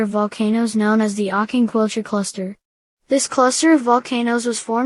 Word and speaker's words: Aucanquilcha: Aucanquilcha, pronounced Aucanquilcha, is a massive stratovolcano located in the Antofagasta